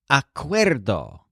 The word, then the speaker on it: acuerdo: preceded by de is acuerdo this is a word whose stress sounds kind of like weirdo so Jolin the chef